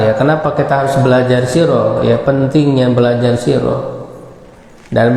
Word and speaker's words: sirah: Ini ditulisnya sirah ya, tapi dibacanya sirah ya. Ya, dibacanya sirah di dalam bahasa Arab.